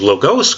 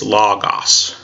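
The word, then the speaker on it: λόγος: us log us now you guys would be used to pronounce and get as logos because that's the name of the course but that's the modern Greek pronunciation and I asked me in Greek it's log-off's so going through and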